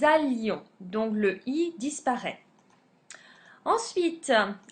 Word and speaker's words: allions: On ne dit pas que nous ayions non que nous allions.